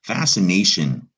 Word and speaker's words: fascination: in a moment but this uh word starts with fast sin almost like the c is silent and there's recognize this